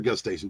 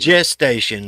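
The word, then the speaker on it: gestation: or just station how how do you say just station or gust station it's G station just station is actually correct way all right I've heard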